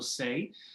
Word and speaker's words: Sey: yeah my name is say and you did say it properly um so uh yeah